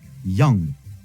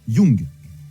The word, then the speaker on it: young: Après, nous avons young. Ça se prononce pas young, mais plutôt ya, young.